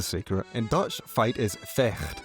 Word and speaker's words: vecht: In Dutch, fight is vecht, pronounced with a guttural sound.